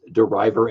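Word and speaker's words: De River: that is how you pronounce his name it's deriver as in deriving um I could say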